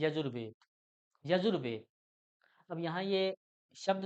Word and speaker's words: यजुर: वेद यजुर यानी कि यजू अगर विसर्ग के साथ बोलेंगे तो यजह और वैसे इसका उच्चारण यजुर तो यजुर जमा वेद